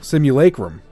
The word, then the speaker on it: simulacrum: on Thank You Google simulacrum is how Google pronounced it there we go CMU Laker room all right simu alaikum according to go there we go good Google's the authority I would not have